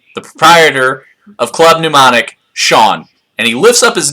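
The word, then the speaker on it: Shaun: ask for me, the proprietor of Club Mnemonic, Sean. And he lifts up his name tag, which you clearly see his name is spelled S-H-A-U-N. That's right, Sean.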